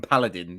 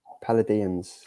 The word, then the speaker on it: Palladions: Because I've been calling them Paladins. Is that right? Palladions. Palladions.